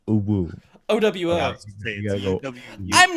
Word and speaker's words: UwU: Frosty, it's pronounced uwu.